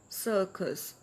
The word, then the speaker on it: circus: But first letter is sounds as s and the second c sounds as k. Circus.